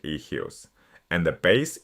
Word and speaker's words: eius: The genitive for all three sounds like ehyus.